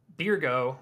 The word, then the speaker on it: Byregot: Now, Birgo, which is actually how you really say his name. Byregot.